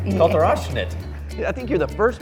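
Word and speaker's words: Kalter Aufschnitt: Kalterofschnitt. Kalterofschnitt. It's a German name. Okay, Kalterofschnitt. Oh, you're saying Did I say it right? good. Kalterofschnitt. I think you're the first person who has complimented my pronunciation.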